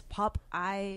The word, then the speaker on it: Pop Aye: And I think it's only because in Thai language, it's instead of being pronounced Popeye, they pronounced it as Popeye.